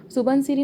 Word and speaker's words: सुबनसिरी: सुबनसिरी नदी। ठीक है। इसको सुबनसिरी बोल सकते हैं, सुबनसिरी भी बोल सकते हैं। ठीक है। क्या हो जाएगा? वहाँ का क्या प्रोनाउंसिएशन थोड़ा अलग रहता है।